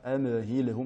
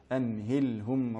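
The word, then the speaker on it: أمهلهم: Et enfin dans le dernier verset, amhilhum, bien faire attention à la lettre mim et à la lettre lam, à ne pas les prononcer de manière muqalqala, c'est-à-dire avec cet impact, amhilhum, mais bien amhilhum ruwaida.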